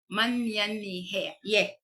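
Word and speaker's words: menyanyi: Okay manyan he okay ang pag spelling ano is m e n y a n y i no kung ang pagpronounce an is ang men is man men yan ye manyan ye Kuya ano manyan yeeh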